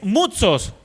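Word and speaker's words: μῦθος: Esta palabra fábulas es una palabra hebrea, una palabra griega, perdón, que es mutsos. Mutsos. M U d S o s. Con acente en la con acento en la u.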